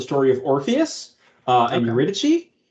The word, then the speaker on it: Eurydice: Eurydice, or Eurydice, depending on how you pronounce it.